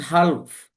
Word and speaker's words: half: Half. It's not half. It's half. Because here L is silent.